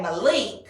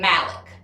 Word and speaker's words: Malik: And Malik is the way he pronounces his name. I would say Malik, Well, it's his name. but he pronounces it Malik.